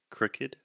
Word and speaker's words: crooked: about the word crooked crooked first this is what we call the other u sound the vowel is uh uh crooked cru crooked so a crook it's